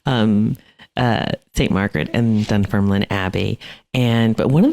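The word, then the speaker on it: Dunfermline: and the Abby oh Alex you got to pronounce it for me again dun Ferlin duner there you go so yeah yeah and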